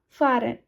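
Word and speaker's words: fahren: फरेन। एफ ए एच आर इ एन। फरेन means to गो। टू गो फार। ठीक है? इसका pronunciation क्या होगा? फॉरेन। एच यहां साइलेंट है।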